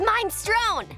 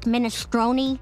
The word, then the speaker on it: minestrone: I get his minestrone. Leni, it's pronounced minestrone.